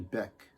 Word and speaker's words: Bic: it's not like uh bic wrong is a household name and in fact i think i'm saying her name wrong i think it's actually beck like beck like jeff beck or beck it's pronounced